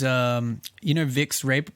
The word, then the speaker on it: Vicks: But if you look at in Germany, it's spelt Wix, like with a W, because Okay, Germans okay. use W. They make a V V, sound. okay. Yeah. So even though the brand is Vicks Vapor Rub, they've put a W